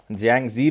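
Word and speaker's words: Yangtze: Yes, China की longest river है यांगसी river. तो याद रखना है यांगजी रिवर, टी साइलेंट है इसमें।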